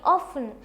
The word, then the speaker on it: often: ඉතින් ඕකත් ගොඩක් අය often කියලා කියනවා. මොකද OFTEN කියලා තමයි අපි ලියනකොට ලියන්නේ. හැබැයි මේ T එක silent. T එක pronounce කරන්නේ නැහැ. often කියලා තමයි කියන්න ඕනේ.